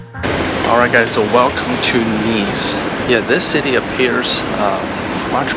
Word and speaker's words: Nice: I reached my destination nice nice sorry it's pronounced nice I went straight to